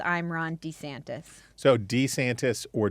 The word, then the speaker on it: DeSantis: say DeSantis but Trump's announcement campaign he he pronounces it I he says I'm Ron DeSantis so D santis or DeSantis yes and it's decent he says D santis